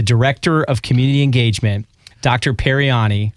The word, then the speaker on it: Paryani: Paryani. I had to ask you 3 times to make sure I'm saying it correctly. You got it perfect.